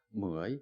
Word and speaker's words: 무어이: 좀 발음이 어렵게 좀 무어이입니다. 무어이. 마카나 이까 무어이 그러면 무어이 집사라고 이렇게 하는데 이 무어이 집사는 중국계 태국인입니다.